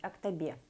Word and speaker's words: Актобе: Правильно говорить Актобе.